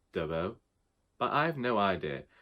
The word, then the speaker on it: Dabos: Now, according to a review that I saw last night, I should actually be pronouncing that last name Dabos, but I have no